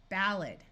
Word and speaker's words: ballad: Like in this word, this A will schwa to be a muffled sound, ballad.